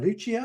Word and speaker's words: Lucia: Lucia, is that how you say it?